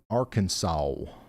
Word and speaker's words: Arkansas: Ryan, it's pronounced Arkansas.